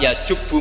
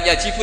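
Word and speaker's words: يجبّ: Itu bacanya bukan yajibu tapi apa?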